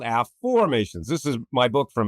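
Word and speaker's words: Afformations: process a method called a formations. This is my book from Hay House. Um so it's spelled A FF O R M A T I O N S. A formations not affirmations.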